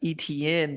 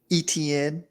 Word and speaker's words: Etienne: Trevor Lawrence and Travis Etienne, baby. What? How do you pronounce that, Parker? Etienne. You used to say it weird. You used to say Etienne. No, I said Travis Etienne.